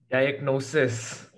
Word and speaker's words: diagnosis: number two uh directness diagnosis yeah diagnosis what's that analysis yeah analysis most of the time uh the emphasis lie on the second syllable yeah okay grady got